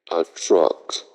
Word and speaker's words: truck: This truck is 90% new. Ce moyen de transport, c'est le camion. Et camion en anglais, c'est truck. A truck. A truck. Et c'est le même son du U de bus.